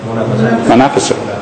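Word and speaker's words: منافسة: Yeah, am I correct in saying the Arabic word for competition is, if I mispronounce it, munafasa? Munafasa.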